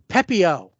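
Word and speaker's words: Pepiot: Ryan Pepio is how you say it.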